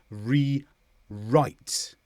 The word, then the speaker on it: rewrite: WR combinations often have a silent w, and we just use the r instead. So these words are wrong and rewrite, because the W before the R in right is silent.